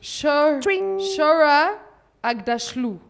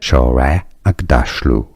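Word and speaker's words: Shohreh Aghdashloo: Shora Agdashlu. No, that's not how you pronounce her name. Agdashlu. Agdashlu. Shore Agda. This is how you pronounce her name. Shore Agdashlu.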